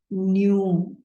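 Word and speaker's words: knew: this word is different k-n-e-w is new like u sound right and there's this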